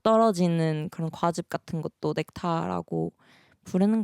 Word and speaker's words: NECTA: 넥타는 넥타라는 단어에서 어를 뺀 넥타라고 읽으시면 되고, 그리고 뜻은 그리스 로마 신화에 나오는 신들이 마시면은 영생을 살게 해주는 감로주였나?